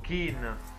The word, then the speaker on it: Kean: sono anche altri giovani come può essere questo keane fricano si pronuncia anche lo stop è niente che hanno chin ho kelly no ken è quello delle barbie